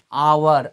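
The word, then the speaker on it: hour: আবার এখানে দেখো কি রয়েছে, আওয়ার, আ, এইচ এর উচ্চারণটা আমরা কিন্তু আয়ের মতো করছি।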